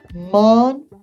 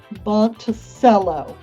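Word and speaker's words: Monticello: you're going to know about and love Montella pronouncing Thomas Jefferson's Little Mountain Home Montello monell not Monto which is what a lot of people will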